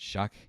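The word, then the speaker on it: Shough: Tyler Shuck, spelled sh H O U G-H, but they pronounce it Shuck.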